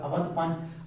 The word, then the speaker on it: اودھ پنچ: مزاحیہ اخبار وہ ہے اودھ پنچ، اس کا تلفظ ہے زبر کے ساتھ اودھ پنچ۔ 1877 کو یہ مزاحیہ اخبار ہے، اس کے اندر اکبر الآبادی، یہ اصل اخبار کس کا؟